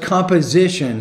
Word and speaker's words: composition: I'm working on it composition but composition stress on the third syllable not the second what kind of composition